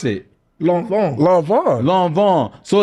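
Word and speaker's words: Lanvin: you how do you know how do you pronounce it long long Von long Von so it's not l no no it's long Von and it's not L okay long long I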